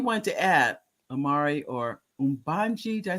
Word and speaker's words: Umbji: Is there anything you want to add, Amiri or Umbji? Did I say it right? Umbji, yeah.